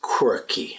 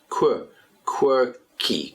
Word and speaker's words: quirky: And the next word is quirky. Again, we have to be very careful with the pronunciation here. You've got that Q-U at the beginning, like the word quick, quick, but here, quirky, Q-U, quirky.